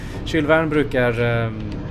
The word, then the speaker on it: Jules Verne: Kylvärn brukar det på svenska i alla fall uttalas. Det går säkert att snofsa till det ännu mer på franska. Men Jules Verne heter den ju inte i alla fall.